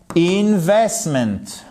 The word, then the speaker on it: investment: Dans chacun de ces mots, vous avez un accent tonique ici sur la deuxième syllabe. Investment.